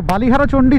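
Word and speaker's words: বালি হরচণ্ডী: চল বাবা পানি তো বালিহারাচন্ডি থেকে বেরিয়ে গেলাম তো একচুি এটার বাংলা উচ্চারণটা হচ্ছে বালি হরচন্ডি ঠিক আছে তো ওটা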